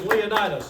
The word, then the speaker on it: Leonidas: Welcome to our guest speaker who's going to pronounce his full name Mr Wade and your first name there the first name is Leonas and it's certainly a pleasure to be here